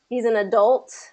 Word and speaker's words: adult: second syllable gets Adult. that stress. He's an adult.